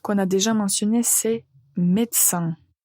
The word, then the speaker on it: médecin: La première qu'on a déjà mentionnée, c'est médecin. Médecin. Donc, quand vous voyez ce mot, il y a beaucoup plus de lettres que quand on le prononce, mais c'est juste comme ça.